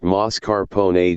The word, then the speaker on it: mascarpone: tiramisu is mascarpone cheese mascarpone pronounced mascarpone Giada De Laurentiis has